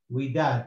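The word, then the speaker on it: وداد: Now here we have the waw as a consonant. In the beginning of the word, always the wa, the alif, and the ya are consonant because they cannot elongate anything. So this is a we, the waw, the we, and you got the dalet, the dal with the fatha and alif that elongates, so we da, and this dal is silent, so it's we dad, Widad, which is a name.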